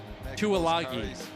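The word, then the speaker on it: Tuilagi: So it's pronounced Tualagi, says Joe.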